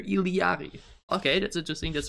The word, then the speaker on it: Illari: salid right I am ilari ilari as if there's another I in there ilari okay that's just think